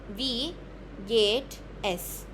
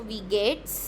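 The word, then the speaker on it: wie geht's: गेट एस ठीक है वी गेट एस ठीक है अ वी जैसे कि इंग्लिश वाला वी हम बोल दे ना अ यू वी है ना तो वी डब्ल्यू वाला वी गेट एस ठीक है फिर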